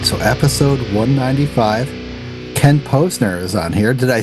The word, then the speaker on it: Ken Posner: Ken Posner is on here.